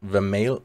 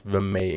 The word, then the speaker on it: Vermeil: It's not Vermeil in gold, it's Vermeil in gold apparently.